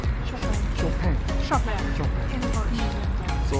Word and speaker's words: Chopin: Shopping is the right pronunciation. Shopping. Shopping. We say Chopin. Chopin.